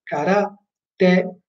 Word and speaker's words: karate: Quindi preferisco, come si spiega normalmente in fonetica, dire cara, te, la e il te vengono accentati.